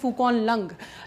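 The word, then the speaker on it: फूकन लंग: ये जो आप पढ़ रहे हैं ना, बॉर्ग फूकॉन, इसको बेसिकली बोला जाता है फूकॉन लंग, ठीक है। ये बेसिकली इनका जो नाम है इसका प्रोनाउंसिएशन है फूकॉन लंग, लचित फूकॉन लंग।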